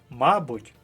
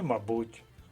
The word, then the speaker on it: мабуть: наголосу в українській мові може бути ще й подвійний наголос наприклад помилка і помилка мабуть і мабуть апостроф і апостроф деякі слова можуть вас загнати